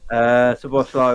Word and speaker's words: Szoboszlai: Yeah, Szoboszlai, I believe is the way you pronounce it. Szoboszlai. The Z is a long S, with the Z, S and the Z is a long S, apparently.